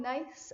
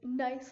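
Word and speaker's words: gneiss: and something that's called nice I know it's spelled really weird but it's nice like I'm being nice to you that's another example you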